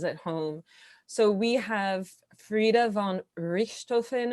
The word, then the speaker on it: Frieda von Richthofen: So we have Frieda von Richthofen. Am I pronouncing that correctly? That's right.